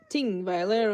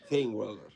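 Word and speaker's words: Þingvellir: So you pronounce it Thingweiler. A Thingweiler. This is Icelandic, or? Yep. And that's a Or TH. Old Norse, as you prefer. Tingweiler or Thingweiler? Thingweiler. Thingweiler.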